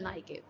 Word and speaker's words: niche: अच्छा, NICHE, नाइके कहते हैं इसे, इसे आप कुछ भी प्रोनाउंस कर सकते हैं, वैसे इसे नाइके कहा जाता है।